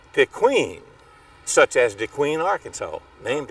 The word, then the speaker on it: DeQueen: We couldn't pronounce it that way, so everybody called it DeQueen, such as DeQueen, Arkansas, named after him.